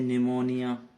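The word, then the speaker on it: pneumonia: ऐसे निमोनिया, कोई काम नहीं है पी का, नहीं है ना बिल्कुल भी कोई काम।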